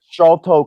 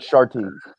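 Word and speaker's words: Sharlto: Shalto Copley, not Sharty.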